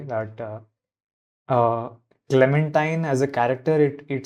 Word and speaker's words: Clementine: to say that uh Clementine as a character it it sounds like you have a disease like chamadia so I I don't it is rhyming with Valentine I just don't know